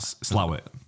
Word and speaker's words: Slaithwaite: Slowett. I'm just naming places now that I think are over there. That's how it's pronounced though. Even though it's like written Slaithwaite, it's called Slowett.